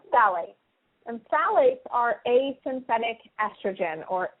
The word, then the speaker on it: phthalates: It's spelled p h p h a l a t e s and it's pronounced phthalates like t h a l l.